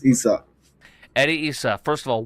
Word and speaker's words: Isa: Eddie, is it Isa or Issa? I want to make sure I pronounce it correctly. It's Isa.